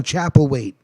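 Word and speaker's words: Chapelwaite: what they say and check out that show chapel wait it's spelled c-h-a-p-e-l-w-a-i-t-e it's on epics but if you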